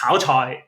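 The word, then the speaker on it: 炒菜: So, frying vegetables is pronounced cao chai in Cantonese, and it is slang for single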